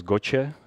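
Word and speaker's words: GOCE: in 2009 it was gotcha it's pronounced italian and all these methods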